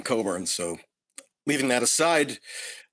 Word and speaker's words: Cockburn: Well, you don't even know how to pronounce the name Coburn.